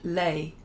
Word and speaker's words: lait: And Janice says, Chrissy, it's pronounced like milk in French, lait. Oh, as in lait, yeah. If you know how to pronounce that word, lait.